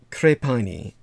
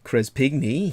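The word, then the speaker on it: de Crespigny: the australian national university named crepini i believe or chris pygmy he might pronounce it based on the spelling but his first name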